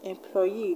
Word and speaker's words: employee: ee we have fusi employee disagree this was end in ee so we're gonna stretch the last level now where the ending